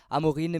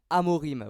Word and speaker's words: Amorim: coach de Manchester United j'arrêtais pas de dire Ruben Amorin mais c'est bien sûr Ruben Amorim voilà donc désolé pour